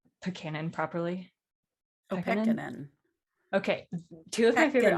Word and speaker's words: Pekkanen: Pekkanen.